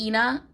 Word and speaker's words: Aina: I'm saying Aina, they pronounce it Ina in the audiobook, but I'm saying Aina because that's like Ina Garner.